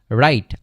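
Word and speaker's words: write: For example আমরা দেখতে পারি WRIT, রাইট, RIT, এটাও কিন্তু হচ্ছে রাইট হয়ে থাকে, ঠিক আছে। তাহলে এই রাইট মানে হচ্ছে লেখা, তাহলে ডাব্লিউটা হচ্ছে কি হয় আমাদের অনুচ্চারিত থাকে, তাহলে রাইট, রাইট মানে হচ্ছে লেখা।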